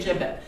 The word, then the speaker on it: gibbet: McLean has led to the gibbet or give it depending on who wants to pronounce it or scaffold but it's actually a gibbit and what makes it